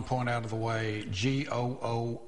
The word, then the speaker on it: GOOOH: out of the way g o o is pronounced go not goo no that's how we